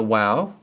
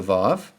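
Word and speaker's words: ו: Now we come to the wow or what in modern pronunciation is the vav.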